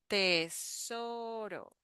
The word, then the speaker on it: tesoro: The sound at the end, tesoro, tesoro, tesoro. So here the R is the flap T sound.